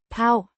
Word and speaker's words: på: Pronounced. pav, Similar to the paw of an animal.